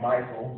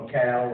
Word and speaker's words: Michal: it, I guess, because Michal, or you can pronounce that word several ways. It's actually Michael, but Michal, or if you want to be fancy.